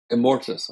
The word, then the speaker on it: Immortus: No, not Morbius. Immortus.